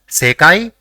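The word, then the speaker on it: せかい: the third is e so it will be pronounced as sekai which means world let us see the third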